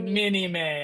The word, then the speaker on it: minime: Mini May is three syllables, so it sounds like you're saying a lot more than no, but it's just kind of like denying something.